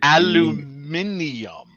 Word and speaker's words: aluminium: Aluminum or aluminium.